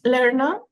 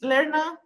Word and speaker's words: Lerna: myth yes no no it's larna LNA that's how I say it in Greek is learna learna or learn is the same yeah little bit of